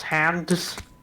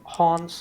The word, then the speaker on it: Hans: my name is hans i've heard people pronounce it as hands and hans is supposed to be and then i have